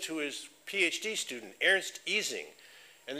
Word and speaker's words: Ising: his PhD student, Ernst Ising. And even though we pronounce it the Ising model, if you're speaking German, you say Ising.